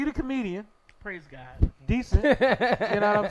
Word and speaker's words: Dicent: Decent. You know what I'm saying? Spelled Dicent, but pronounced decent.